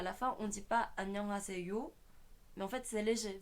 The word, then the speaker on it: 안녕하세요: En fait, le G se prononce peu dans le bonjour. 안녕하세요. Quand je dis que c'est NG, c'est pour dire que c'est pas n mais un. C'est pas un.